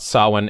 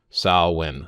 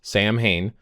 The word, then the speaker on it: Samhain: So they're talking about sah-win, and it says pronounced here, and you'll see the phonic way that they spell it, SOW-WIN. So sah-win, sah-win. That's the way that they would pronounce it, not Samhain.